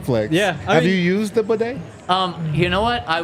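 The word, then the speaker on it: Badie: the Press Box that they were saying it it's pronounced bedet we've been calling him batty we've been call him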